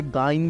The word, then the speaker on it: gyne: अब आ गया ना भाई, GYNE, जाइन प्रोनाउंस करते हो, कोई इसे गाइन भी प्रोनाउंस करता है।